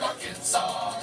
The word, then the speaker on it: Arkansas: also in Little Rock, Arkansas. It ends with an S, but don't say it, boy, with mentioning Springfield, Illinois.